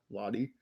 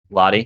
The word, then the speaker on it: Latte: uh islami l is supposed to be pronounced like l-a-t-t-y lottie lottie okay that makes a